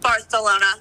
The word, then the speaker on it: Barcelona: to fly to Barcelona do you mean Barcelona Barcelona it's how the locals say it actually um I should